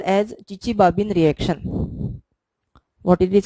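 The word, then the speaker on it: Chichibabin: Now finally we will discuss another important and characteristic reaction of pyridine molecule called as Chichi-Babin reaction.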